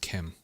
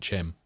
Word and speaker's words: CHIM: It's like, I think it's meant to be pronounced Kim, I've heard, but I can't not pronounce it Chim because of the Mary Poppins thing.